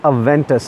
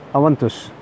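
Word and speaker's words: Aventus: one thing one important thing this is not a Ventus Aventis is not a Latin word Latin English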